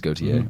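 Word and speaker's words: Gauthier: pronounce his last name how do you pronounce it go it is goate I saw someone what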